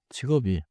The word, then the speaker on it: 직업이: 직업이.